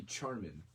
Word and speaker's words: Charmin: Spelled with CH, not SH, so it should be Charmin.